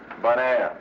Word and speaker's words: Bonaire: Bonaire. You know, bon, good, air, Bonaire.